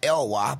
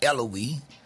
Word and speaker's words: Elloie: french names right and it's pronounced elwha but most people will pronounce it as eloise um a few other ways you pronounce it but it's elwha sometimes people get it right